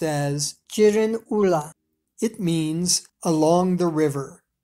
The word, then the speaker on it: Girin Ula: In the Manchu language, the name of this area is pronounced as Jirin Ula.